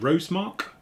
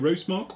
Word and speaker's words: Rosomak: the green devil cuz I can't actually pronounce that is it rast Mark uh it's the kto roast Mark also known as the green devil I'll go with that one something a little bit